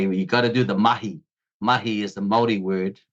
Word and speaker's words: mahi: Zealand we say you got to do the mahi mahi is the Mii word the indigenous people